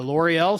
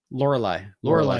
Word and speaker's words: Lorelei: Yeah, the L'Oreal signal, is that right? Lorelei signal. Lorelei, really? That's the one. Yeah, the Lorelei signal is the one